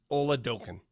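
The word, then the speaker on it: Oladokun: resident from South Dakota says the proper pronunciation of that practice squad QB for the Chiefs is Ola doen Ola doen yeah yeah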